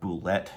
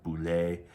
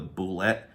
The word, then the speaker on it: Bulette: And I believe Bulette is how it's pronounced. I don't think it's some kind of French-sounding boulet or just bullet, right? Because that's a different spelling.